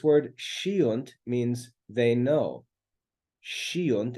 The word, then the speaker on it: sciunt: Sciunt, it's pronounced in Christian Latin, sciunt.